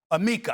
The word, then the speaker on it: Amika: Tatum's endorsement deals have included Amica or Amika, I don't know how A M I C A, I forgot the pronunciations. Amica or Amika. Amika, I'm sorry.